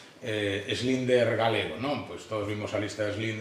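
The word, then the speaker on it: Schindler: vián a los linderos no se se pronuncia así schlinder galego no pues todos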